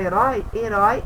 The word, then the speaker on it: herói: Herói, ele tem o som mais aberto. E foi o som mais fechado.